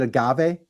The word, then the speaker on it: agave: Is it agave? Yes, you nailed it.